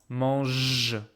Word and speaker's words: mange: The only difference is that because of this U, I pronounced a solid G, mangue. And because here there's no U, there's just this E, I pronounce mange, j.